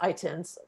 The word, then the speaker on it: ITIN: with um taxpayer numbers itins right that's how you say it um coming to do